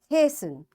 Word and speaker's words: hasten: Listen, fasten, castle, often, whistle, soften, hasten, bustle, and gourmet. In all these words, letter T is silent.